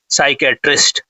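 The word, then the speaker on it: psychiatrist: तो जो mental disorder को डज करता है उसको बोलते हैं साइकेट्रिस्ट। ठीक है? तो यहां पर देखिए पी साइलेंट है।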